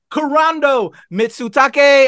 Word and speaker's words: Kurando Mitsutake: so excited so delighted to have the director corando mitsutake uh I hope I didn't brutalize your name no that was perfect pronunciation thank you so much for having me